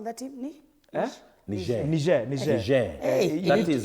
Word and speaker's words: Niger: Niger. Hey. That is the pronunciation needs to be on point. Français. moi, je m'appelle Monsieur Arocho. Je parle un peu français. So it's pour Niger.